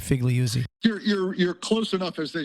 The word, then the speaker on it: Figliuzzi: Are we pronouncing your name right, Figliuzzi? You're close enough, as they say, for government work. It's 3 syllables, Figliuzzi.